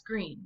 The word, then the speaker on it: Greene: Greene, that's Greene with a silent E, discovered that they were expecting a baby girl.